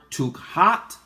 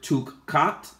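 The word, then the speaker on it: תוכחת: here for rebuke, is the Abarit word tukhat, tukhat, tukhat, and it is spelled T-U-K-K-H-A-T, and it is comprised of the Abarit letters Tau, U, Kaf, Kot, Tau. So it is transliterated in two ways. It is transliterated in the word tukkat, tukkat, and tukka, tukka.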